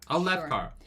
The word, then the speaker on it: Alethkar: But Alethkar has 3 syllables in it. That's why it didn't work in my head. Oh, okay. Yeah. Alethkar.